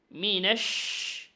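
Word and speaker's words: مِن شَرِّ: জের মি নুনশিন জবর মিনেশ মিনেশই সেই উচ্চারণ বাতাস ছড়া দিতে হবে এরকম বললে হবে নাশিন বলতে হবে মিনাশ মিনাশ ততে এক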